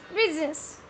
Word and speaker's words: business: बिजनेस correct pronunciation is business.